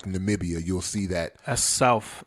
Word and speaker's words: Namibia: and some police folks that's not nambia as our current sitting president would like to pronounce it that is Namibia so that is so